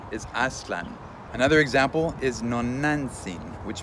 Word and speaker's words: Aztlan: In the last episode, I mentioned that many people refer to Aztlan as Aztlan, which is a Hispanicized pronunciation, and incorrect if you're following Nahuatl phonetics. The correct Nahuatl pronunciation is Aztlan.